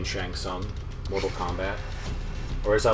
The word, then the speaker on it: Shang Tsung: with adam collins beth my compliments for the silent t in shang tsung mortal kombat or as